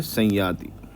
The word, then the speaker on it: संयाति: जब ये किसी वर्ड के बीच में अनुस्वार के बाद में आते हैं। तो इन्हीं लेटर का यही प्रोनाउंसिएशन में कन्वर्ट हो जाता है। बस इसमें नेल साउंड देना पड़ता है।